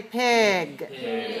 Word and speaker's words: pig: want to be careful we don't want to say pic we want to say pig we make it a little bit longer pig that's one of